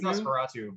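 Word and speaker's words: NOS4A2: It's Nosferatu, but it's Yes. spelled with like numbers.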